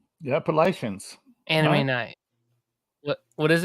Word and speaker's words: Appalachian: say it okay okay it's the Appalachian Mountains I will tell you appach how you say it is imagine you're holding an apple and you're gonna throw an